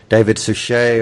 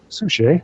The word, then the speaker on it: David Suchet: David Suchet or Suchet.